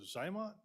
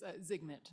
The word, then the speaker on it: Zygmunt: Is it Zymont? Am I saying? I can never say it correctly. It's Zygmunt, Mr. Chairman.